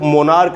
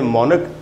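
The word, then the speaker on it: monarch: मैंने आपसे कहा कि इस वर्ड को मोनार्क नहीं पढ़ना इसको पढ़ेंगे मोनक और यह जो वर्ड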